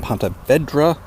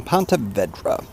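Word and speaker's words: Ponte Vedra: from Pont Vedra Boulevard I must say it again Pont Vedra I've been saying it wrong this whole time Pont Vedra that is where I'm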